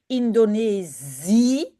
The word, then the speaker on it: Indonesië: The two dots only mean start a new syllable. Do not say Indonesië along E, which is also written I-E. No, it means say the I and say the E separately. Indonesië, Azië, I.